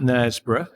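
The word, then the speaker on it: Knaresborough: want to check out nesboro it's spelled with a k by the way k n a r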